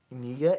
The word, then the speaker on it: Kniga: Here is Master Oleg Niga. It's spelled Kniga out of Ukraine.